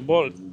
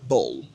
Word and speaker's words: bowl: En anglais américain, ça ne va pas se prononcer littéralement un O. Ici, ça sera bowl. Right? It's a bowl. Exactly. Donc, le W ici, il est muet, hein? Donc, on dira bowl.